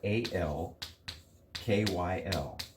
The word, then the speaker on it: alkyl: alkyl group that spelled al kyl it's pronounced ALK EE L alkyl all right so an